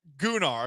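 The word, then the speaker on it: Gunnar: okay gunar all right I do like the Icelandic version of that it's it's pronounced gonar because it's guu NN a r not to be confused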